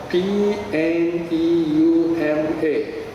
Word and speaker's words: pneuma: say the cognate in other words equivalent newman p n e u m a pneuma now from the word new prefix pneumonia